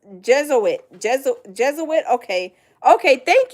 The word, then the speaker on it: Jesuit: Goddess says Juit um pronounced uh uh wait Jez Jesuit.